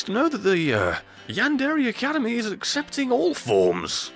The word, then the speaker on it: yandere: time for yandere to yand bear at all I know it's pronounced yandere the joke doesn't work if I pronounce it right what the bloody hell